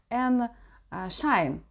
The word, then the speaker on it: n.SSign: глянем глянем называется селти правильное произношу название en А так группа называется N Shine вот так правильно короче тогда ничего не